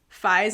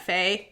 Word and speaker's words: Fi: to our attention that we were pronouncing fi's name wrong it's Fi not Fay there's apparently a big